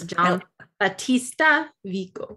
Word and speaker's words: Giambattista Vico: So you looked up how to pronounce it. Giambattista Vico.